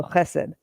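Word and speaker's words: חֶסֶד: They spelled it phonetically, so chesed. The ch is the first letter. This one makes and this is a s sound, and that's a d. So chesed.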